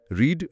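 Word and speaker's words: read: যেমন পুট, পুট, পুট, কাট, কাট, কাট, cost, cost, cost, hit, হিট, hit, late, late, late, রিড, রিড, রিড। যদিও এখানে V2, V3-র উচ্চারণটা আলাদা হয়ে যায়, রেড।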